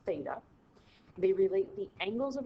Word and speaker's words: theta: big circle with a line through it it's pronounced theta they relate the angles of the triangle to